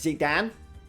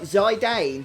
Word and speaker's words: Zidane: I pronounce his name as Zidane. Is there another way of pronouncing his name? I've always called him Zidane. I guess you could, now that I look at it, call him Zidane or something. Maybe some of you do that, but I've always said Zidane. Possibly because of the French footballer.